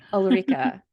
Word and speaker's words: Ulrika: So is it Ulrika? Yes, Am I pronouncing that correctly? you're perfectly fine. Ulrika. And where does Ulrika come from?